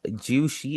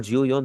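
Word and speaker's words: 十四: या फिर आप 14 की बात करें, 14 की बात करें, वहाँ पर आप जियो शी और जियो योन दोनों कह सकते हैं।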